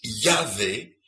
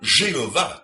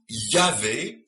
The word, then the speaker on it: Yahvé: en français ce qui en hébreux se prononce Yahvé et non pas Jéhovah comme il le prétendent comme les témoins Jova le prétend c'est donc yavé comme le prononcent encore tous les Juifs aujourd'hui aujourd'hui ainsi selon ces